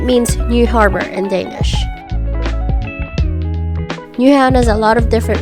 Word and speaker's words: Nyhavn: Okay, just FYI, in this whole vlog, I was pronouncing Nyhavn the wrong way the whole time since I didn't know how to actually say it. But after our tour guide taught us how to say it, I'm doing my voiceovers in the proper way.